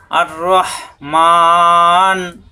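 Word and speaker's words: الرحمن: আর রাহমান অসীম দয়ালু।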